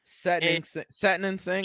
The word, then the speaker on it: Satnam Singh: Okay, I don't want to mispronounce his name. Satnam Singh. Satnam Singh, I believe is how you pronounce it.